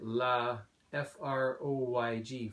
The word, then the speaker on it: Laphroaig: look here Laphroaig and it gives you a pronunciation guide line here la fr oyg Freud Laphroaig single malt scotch